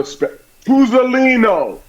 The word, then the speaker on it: Tuzzolino: I'm sitting in for my man, Sal Tuzzolino, and we're going to have a Tuzzolino. I have to pronounce every vowel.